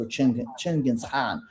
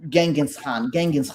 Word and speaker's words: Genghis Khan: For almost 300 years, Russian people had to bow to Mongols, to Chinggis Khan, right? Genghis Khan. That's how you say it in English.